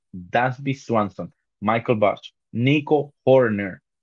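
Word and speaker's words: Hoerner: Swanson, Michael Bush, Nico Horner. Fíjate que hay que parar y pronunciar bien la R en el medio porque te complicas.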